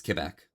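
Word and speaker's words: Québec: Understand I say Quebec wrong because I'm filthy non-French. Listen, it's fine. It's just too. It's literally too. Oh gosh, I'm going blank on every literary term right now. 2 syllables, Quebec. Those 3.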